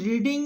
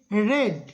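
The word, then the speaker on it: read: তারপরে বিং, তারপরে কি রেড, রিড রেড রেড, আরিএডি, তিনটে বানানই একই, কিন্তু প্রথমটা হচ্ছে রিড, তারপরে দুটো উচ্চারণ অর্থাৎ পাস্ট এবং পাস্ট পার্টিসিপেলের উচ্চারণটা রেড রেড করে হবে, রেড রেড, রিড রেড রেড।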